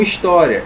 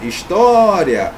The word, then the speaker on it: história: acentua Ok beleza então história história O que é mais forte tá aqui na penúltima sílaba é paroxítona terminada em ditongo acentua